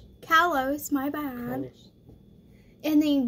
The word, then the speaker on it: Kalos: Kalos, my bad.